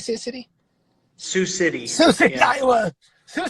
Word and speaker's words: Sioux City: Sioux City.